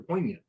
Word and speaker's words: poignant: comfortably stay pointed at there's a g in there but you just kind of glossed over a poignant Troy gloss if I'm